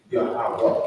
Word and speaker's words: Yahweh: That's his name, not Jehovah. It's not God. It's not Elohim. It's not Yehuda. It's not none of those. It's Yahweh.